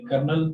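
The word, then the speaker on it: colonel: अमूमन देखते हैं कि कर्नल पढ़ा जाता है, यानी एल यहाँ पे साकिन होती है और बिट लाइक एल की आवाज़ देती है।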